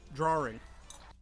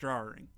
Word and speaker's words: jarring: gay magazines and put his name and number drawing I know it's dry roaring okay I know